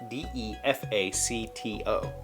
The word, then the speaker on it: de facto: D-E-F-A-C-T-O. The pronunciation guide in here says de facto. I've never heard anybody pronounce it with a long E.